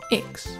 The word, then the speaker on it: Baryonyx: Baryonyx.